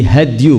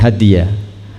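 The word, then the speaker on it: هَدْيُ: Fa inna khairal hadisi kitabullah wa khairal hadyi hadyu, bukan hadiah, hadyu Muhammadin sallallahu alaihi wasallam.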